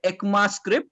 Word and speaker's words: ECMAScript: is given by uh ekma script yeah this is how it is pronounced the core versions of